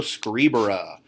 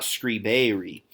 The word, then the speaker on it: scribere: week of school, scribo scribere. That is a short or like normal E, then an R, and then an E in the infinitive, telling us it is third conjugation. It is not scribere.